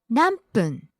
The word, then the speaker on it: 何分: ぐらい Next, 何分 how many minutes? 何分何分 Falls on the second syllable mm.